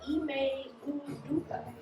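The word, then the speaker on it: Ime Udoka: How's it pronounced? It's Ime Uduka.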